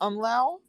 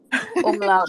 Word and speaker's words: umlaut: I like how you pronounce the U or the, what is it called above the U? The umlau? Umlau? Where it makes it the ooh sound? Umlaut.